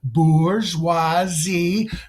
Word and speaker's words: bourgeoisie: okay now say that after me three times bourgeoisie not any other pronunciation because you know that's incorrect to say